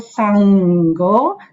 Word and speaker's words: Saṅgho: Savaka Saṅgho. The N with a dot on top, remember, is pronounced as NG, sound.